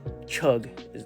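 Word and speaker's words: חוג: Circle, Hebrew word chug, that's how it's pronounced in English, meaning circle, horizon, vault, or compass shaped.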